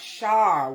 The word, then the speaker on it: Char: Oh, pronounce Shar with an S.